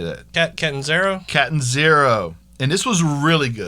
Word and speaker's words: Catanzaro: Catanzaro.